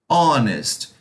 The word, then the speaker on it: honest: duas palavras aqui embaixo mesmo com h a pronúncia não considera o solo h então eu não vou falar our homes eu vou falar our honest então por esse motivo por ter uma h silencioso que a gente chama